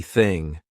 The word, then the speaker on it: thing: Let's go on to the unvoiced TH sound, which means our vocal cords are not going to vibrate, so it's going to be thing.